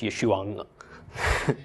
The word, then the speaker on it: Yeshua: Also, just a little side note, Yeshua, that name ends in an ayin. So there's actually a subtle sound at the end of the name. So it's Yeshua, except I'm belaboring it a little bit.